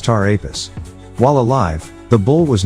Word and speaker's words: Ptah Apis: Phonetically, the zodiac sign Taurus, which represents the bull, is similar to Ptah Apis, pronounced Tar Apis.